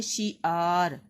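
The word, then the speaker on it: شِعَار: کے اوپر زبر، ارتحال۔ اگلا لفظ ہے شعار، شین کے نیچے زیر، این کے اوپر زبر اور رے کے اوپر جزم۔ اگلا ہے متمول، میم کے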